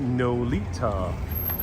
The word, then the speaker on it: Nolita: So this way, after Broome, is what people now know mostly as Nolita. Spelled like Lolita, north of Little Italy.